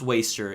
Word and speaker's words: WSTR: today I'm going to be reviewing the new waster album waster it's pronounced waster it took me forever to find that out